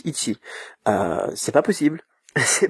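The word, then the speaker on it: いち: sais pas moi le le caractère 1 par exemple le plus basique en chinois ça se prononce I et puis vous l'écrivez de la même manière en japonais ça prononce iti euh c'est pas possible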